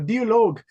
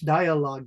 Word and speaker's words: dialogue: Lisa, you're saying it the German style. Dologue. So, in English, dialogue.